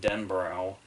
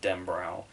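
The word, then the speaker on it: Denbrough: because it's like every whenever I read the book I pronounced it in my head den Burrell and then I think in all the other adaptations everybody has said den brow but when King himself speaks he calls in dem bro and I'm wondering if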